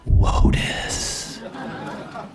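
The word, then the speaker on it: WOTUS: loved to talk about Lotus you know rhymes with POTUS and SCOTUS and all the other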